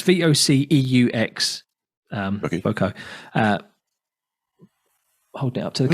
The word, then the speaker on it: Voceaux: Well, called, I don't even know how to pronounce it, Voco. Have you heard of these people? I know. And it's spelt Voceaux, as in a bit Frenchy sounding.